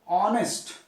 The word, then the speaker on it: honest: Here also this is H is silent. So honest, honest man.